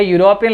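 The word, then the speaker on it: European: और इसमें एन बिल्कुल नहीं आ सकता क्योंकि इसका जो प्रोनाउंसिएशन है वो यूरोप है, ये की ध्वनि आ रही है गाइस। तो कौन सा आर्टिकल आना है? ए आर्टिकल आना है। ए यूरोपियन lady met my friend in the hotel.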